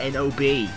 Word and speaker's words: Nob: I mean, Jesus Christ, it's N-O-B. How else am I supposed to say it? Nob. That makes him sound like a noob.